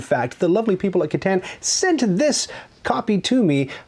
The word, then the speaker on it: Catan: Now, just a side note, it's correctly pronounced Catan, but I say Catan, because I'm double jointed.